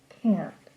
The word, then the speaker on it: can't: the pronunciation sounds like can't the T sound at the end of the word is very quiet so I can't type